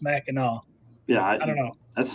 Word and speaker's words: Mackinac: Ranger says, Mackinac, come on now, Mackinac. This one has always tripped me up. I'm not from Michigan, but why is it spelled Mackinac but pronounced Mackinac?